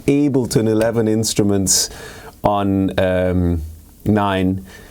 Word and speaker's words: Ableton: for able to nine thank you to the people that let me know that it's actually correctly pronounced Ableton and while we're in